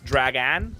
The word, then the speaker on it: Dragan: on Twitch however for Dragon Kia games it's hard to spell it's like inste it's not Dragon it's dragan so d r a